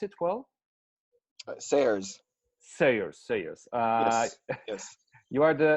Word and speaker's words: Sayers: Do I pronounce it well? Sayers. Sayers, Sayers.